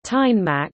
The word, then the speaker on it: Danmark: Denmark, Danish, Danmark, pronounced Tegnmark, listen, officially the Kingdom of Denmark, is a sovereign state and Nordic country.